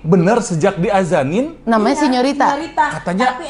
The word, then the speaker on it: Señorita: Tapi benar sejak diazanin Namanya Iya, Señorita. Katanya- tapi ejaan itu Indonesia SIN. Oh, bukan Senorita.